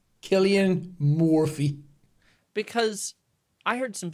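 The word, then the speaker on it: Cillian: that in the filmic lens I really like Killian Murphy a lot yeah that's how you pronounce his name Killian morphe because I heard some people the other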